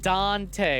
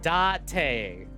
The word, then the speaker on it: Date: No, not Dante with an N. Date. No N. Spelled like date.